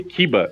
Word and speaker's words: Kiva: E falando em canino, aproveitando o que o Ju falou do do Kiva, né? Eh, apesar de se falar Kiva, né, se escreve Kiba e Kiba é a presa, né, o o canin mordida japonês, né?